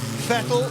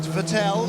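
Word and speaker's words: Vettel: It's Fettle, not Vetel like mineral water.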